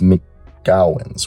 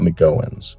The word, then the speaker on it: McGowens: mcgowans or the mcgowans his aunt commented on my video saying I said it wrong it's me cowins right not mcgowans mcgowans someone tell me down